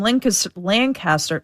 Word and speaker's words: Lancaster: We have Jim from Lancaster.